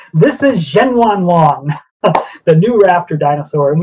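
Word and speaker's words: Zhenyuanlong: It is this dinosaur, this new species, and you pronounced it beautifully, I have to say. This is Zhenwanlong, the new raptor dinosaur.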